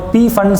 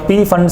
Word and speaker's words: Pfund: Similarly, the last spectral series is called the Pfund series, or otherwise Pfund series, where we can say P can be kept silent in our pronunciation.